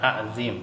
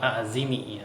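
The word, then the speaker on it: عظيم: Cara bacanya subhana rabbiyal azim ya, bukan azim ya, tapi azim ya. Azim. Ain terus zo ya mim kan gitu. Al azim ya. Jadi azim ya, bukan azimi ya, tapi azimi kalau bacaannya ya.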